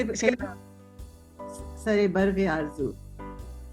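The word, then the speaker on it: सरो बर्ग-ए-आरज़ू: बाद सरे बर्ग आरजू।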